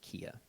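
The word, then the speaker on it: Kea: find that out and her name is spelled k-e-a but she pronounces it kia um she's a rebel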